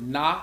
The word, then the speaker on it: Nga: Also, in Vietnamese, the word Na is pronounced Na, is spelled Nga, means shining light.